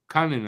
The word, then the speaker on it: Kunin: Kunin, actually.